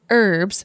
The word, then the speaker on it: herbs: have noticed is that you guys say the word herbs without pronouncing the H that sounds quite amusing